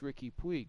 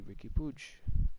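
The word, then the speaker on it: Riqui Puig: forced I don't know you'd think it's Ricky Puig that I should apparently Ricky pooch I don't get it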